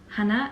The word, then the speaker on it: Hannah: real name yet so my name is hannah hannah in gem pronunciation and i'm from germany